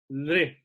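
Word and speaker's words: ऌ: So this one is pronounced like lre, lre. It's a l with a re, lre, like that, lre.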